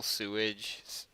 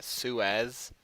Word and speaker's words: Suez: That's why kind of like the whole sewage that's why that kind of like piqued my. It's like, well, Sewage. Not sewage. I can't pronounce it correctly. Suez, Egypt.